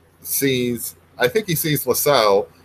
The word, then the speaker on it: Lissel: I think he sees LaSalle it's almost like an analog for himself in a way because whistle oh so like it pronounced like whistle well you know we've